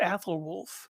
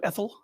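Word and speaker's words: Æthelwulf: have for it or they call you Ethel like no no it's it's it's a full name it's not Ethel and then wolf um but anywho um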